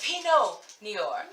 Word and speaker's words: Pinot Noir: Okay, so apparently I'm a little under the influence and I pronounced it wrong. It's Pinot Noir by Barefoot.